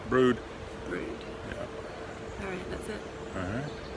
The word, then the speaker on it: Brewood: I said it was Breedon, but it's spelled Brewood, but you think it's pronounced Brood.